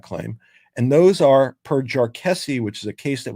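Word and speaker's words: Jarkesy: So if that occurs, the court in Jarkessi, which was last year, and everybody pronounces Jarkessi differently, so that's fun. I'll call it Jarkessi, but you'll hear different pronunciations.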